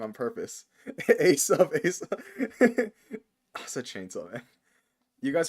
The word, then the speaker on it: Asa: I see all of you spelling it and pronouncing it wrong on purpose. Asa.